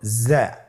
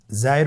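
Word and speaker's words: زاي: স্ক্রিনে দেখুন, হরফটি দেখতেই রয়ের মতোই, শুধুমাত্র রতে নুক্তা ছিল না, জায়ের উপর একটি নুক্তা রয়েছে। কতই সহজ। তাহলে হরফটির নাম কি? জা। আবার বলুন, জা। উচ্চারণ করার সময় অবশ্যই এক আলিফ টেনে পড়তে হবে, এক আলিফ টেনে পড়তে হবে।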